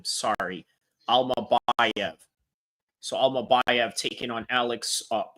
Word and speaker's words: Almabayev: Alma BV is how you pronounce his name. Sorry. Alma BV.